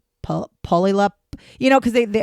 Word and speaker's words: Puyallup: And I'm like, "It's not poo. It's pew." Puyallup. And so, or some people I've even seen like on TikTok and stuff where they'll they'll try to say like Puyallup.